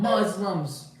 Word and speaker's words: Muslim: to be like Islam Muslims and this and that but it's annoying you know you know it's like there's an S it's Muslim I don't know why people can't pronounce that correctly hi can you have